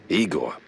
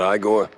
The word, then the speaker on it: Igor: Igor, not Igore.